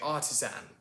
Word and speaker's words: artisan: difference between our accents the ast ending versus the earth ending that americans like to use so for example uh when we say the word artisan we say artisan and when we say the word partisan it's partisan or for example the